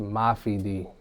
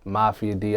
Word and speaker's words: Mafi D: stage name it's a Mafi D Mafi a lot of be like Mafia D I don't like that it's Mafi without the a Mafi people do mispronounce